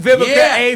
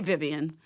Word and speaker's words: Vivica: have a beautiful name use the a as vivica a fox and they'll always remember that girl